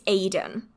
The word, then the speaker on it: Aidan: So yeah, it's Aidan, not whatever on earth I just said.